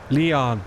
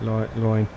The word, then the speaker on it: Lyon: or not less Leon it's pronounced not like loin Leon sorry I'm terribly